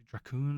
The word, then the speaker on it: Dracon: I pronounce it Draon. It could be Dracoon. I guess it's D R A C O N.